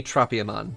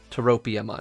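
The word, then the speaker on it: Tropiamon: guy so turopium on uh it should be tropium on like it should not be terropium on its tropia not toropia but in japanese you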